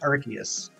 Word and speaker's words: Arceus: specify Hefty 517 uh how do you pronounce Arceus is it Arceus Arceus or Arceus it's pronounced Arceus maybe if I heard